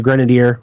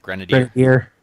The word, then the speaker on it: Grenadier: How do you say that? Grenadier. Grenadier. I always say Grenadier. Grenadier. It's more French. Grenader.